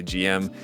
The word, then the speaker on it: GM: a long time ago I used to say GM all the time I would always just say GM and then I got kind of in the habit of saying Jim just because I know that that's how a lot of people say it including in Japan I